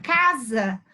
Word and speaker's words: casa: Nós falamos a palavra casa e parece que a pronúncia é de Z.